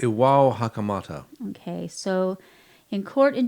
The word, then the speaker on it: Iwao Hakamata: You spent some time in Japan, so how do you pronounce this lovely man's name? Iwa I think Hakamata? it's Iwao Hakamata.